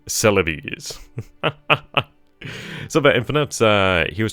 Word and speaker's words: Celebes: It's pronounced like a stereotypical Italian. Celebes.